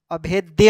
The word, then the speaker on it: अभेद्य: यहाँ पर दो अभेद लिखा हुआ है, ये अभेद्य हो जाएगा, थोड़ा सा उच्चारण देख लीजिए।